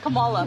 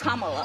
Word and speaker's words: Kamala: to say her name earlier you said Kamala the way she pronounces her name is Kamala you don't work with